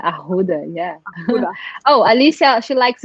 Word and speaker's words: arruda: I only learned last week that I've been saying it wrong my entire life. Oh, yeah, but now you know. It's not arruda, ahuda, yeah.